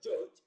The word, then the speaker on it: judge: sounds now the word judge is transcribed as shown on the screen judge now when we have dg that is on the line we have the sound j the second option is